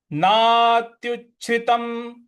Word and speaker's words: नात्युच्छ्रितं: इसके बाद अगला पद है नात्युच्छ्रितं नातिनीचं, नात्युच्छ्रितम, यहां पे जो त पे अनुस्वार है उसका न में उच्चारण ले आएंगे।